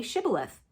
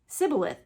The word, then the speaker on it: shibboleth: they said to him then say shibboleth and he said sybileth for he couldn't pronounce it right then they seized him